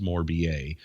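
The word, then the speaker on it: Morbier: like it's spelt more beer but it's actually pronounced more ba if you want to call it more beer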